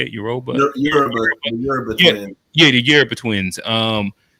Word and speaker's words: Yoruba: Yoruba. Yoruba Yeah, twin. yeah, the Yoruba twins. And yeah, I think Michael B. Jordan was speaking on the carpet about how I don't know, he got a Yoruba name or some shit like that.